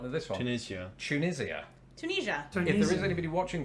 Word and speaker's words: Tunisia: one they may not know this one tunisia tunisia if there is anybody watching from tunisia or tunisia let us know which is closest to your pronunciation well i think i know who's going